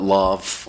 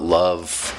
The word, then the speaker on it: LOVF: an unpronounceable title, but I sometimes call it Lovf, or I call it Love. Some people call it Lovf, and some people call it Lovf, and all of those are fine.